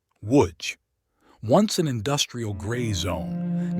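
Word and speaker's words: Łódź: You're probably mispronouncing. Say it with us. Woodj.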